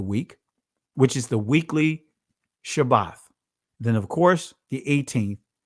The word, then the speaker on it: Shabbat: It says Shabbat, not Sabbath, Shabbat. That is the actual pronunciation, Shabbat.